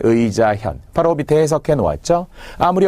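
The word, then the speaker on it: 義自見: 여기서는 현이라고 읽었죠. 도금 문제로도 잘 나오는 독서백편 의자 견이 아니라 독서백편 의자 현.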